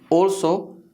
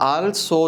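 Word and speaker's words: also: ऑल्सो, ये आल्सो नहीं है, ऑल्सो। After a whenever there is एल V pronounce it ओल, नॉट आल बल्कि ओल, ये वाली इसकी साउंड आती है।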